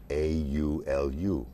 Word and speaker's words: Awaiaulu: Spell that for everybody. It's AWAIAULU.